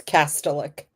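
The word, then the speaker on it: Kastelic: Yeah, but can you call can you pronounce his name right because it always bothers me when you mispronounce it. It's Castellic. Castillic.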